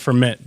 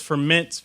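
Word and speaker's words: Furmint: rice what reasing you have me thinking of ferment just because it's a very similar varietal to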